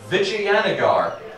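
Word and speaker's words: Vijayanagar: play in India and that is Vig Anar that is how it's pronounced except no Alternatives so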